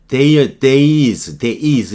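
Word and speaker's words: dais: judge's dice가 나왔는데 days 이렇게 발음할 거예요.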